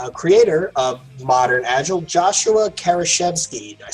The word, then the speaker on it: Kerievsky: First of all, it's pronounced Kerievsky.